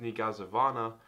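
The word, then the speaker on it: niegazowana: little small blue word that's pronounced negazavana is the word in polish for still if you ever wanted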